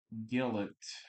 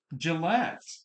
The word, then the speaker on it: Gillette: Gillet, I think. No, Gillette, Texas or Gillette. Gillette. Kind of like um Gillette the shaving razor.